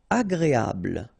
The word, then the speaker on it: agréable: Agréable. don't insist on the final E, bl, agréable, agréable.